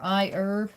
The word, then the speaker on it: iHerb: I imagine, or iHerb, is iHerb, however they pronounce it. And iHerb, I guess. They must be British. They pronounce the H in herb.